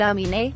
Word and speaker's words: Aminé: to Ethiopian immigrant parents emanate pronounced ami-nee means I believe in